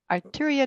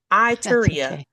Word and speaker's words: Ituria: Arturia Chronicles. Itteria Chronicles. And I still said it wrong. Itteria.